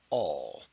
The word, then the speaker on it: all: It's got that second L. And we don't actually pronounce the L. But what does it do? It changes the sound of the A.